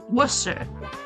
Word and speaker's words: Worcester: that's how it's spelled when people say Worcester and they it's Worcester like that's how they say it it's Worcester but it's spelled like warchester and every single time